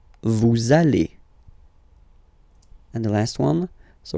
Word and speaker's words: allez: Vous allez. Vous allez.